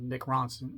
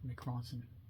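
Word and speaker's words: Mick Ronson: this still has uh mck Ronson not MC Ronson I can't say his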